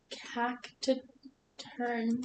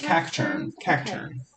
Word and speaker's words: Cacturne: yeah uh go ahead cactus to turn Captain yeah just Cacturne I was adding an extra syllable and it wasn't making sense okay um it has